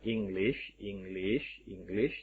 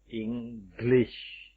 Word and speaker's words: English: Itu bukan glish, tapi glish dengan sh. English. Oke, tentu membacanya bukan English, tapi English.